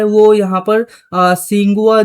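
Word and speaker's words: Tsinghua: है वह यहां पर सिंगुआ जो यूनिवर्सिटी है टी यहां पर साइलेंट है। सिंघुआ यूनिवर्सिटी के अंदर यह रिसर्च हुई है।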